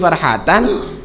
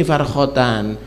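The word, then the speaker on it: فرحتان: Keliru, salat ada titiknya, ada di situ, tapi titik liar, bukan karena lis-shaimi farhatan, dia bacanya lis-shaimi farkhatan.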